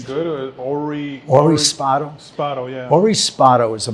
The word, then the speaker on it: Spado: If I'm pronouncing his name good, Ori Spado. Spado, yeah.